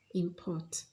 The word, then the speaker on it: import: Now, if the word in a sentence is used as a verb, the stress falls on the second syllable. For example, import.